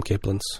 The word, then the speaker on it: capelin: C uh celin yeah apparently it can be pronounced both another word that pronounced both ways in the maritimes we call them caelin yeah well you're not